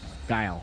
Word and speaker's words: Guile: How do you spell it? G-U-L-I-E. Gilly? I-L-E. How do you say it? Gilly? Guile? Guile.